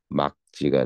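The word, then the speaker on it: 맑지: 뒤에 뭐가 왔어? 기억이 안 오고 했으니까 뭐 한다? 기억이 올 때만 예외적으로 앞에 거 발음이야. 예, 이렇게 발음해. 뒤에 거기서 어떻게 발음해? 막지가 돼.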